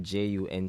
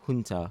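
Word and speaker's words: junta: pronounce it it's situational j u n t a hun mean it's a Spanish word so you know you'll say hun opposed to Jun okay and what does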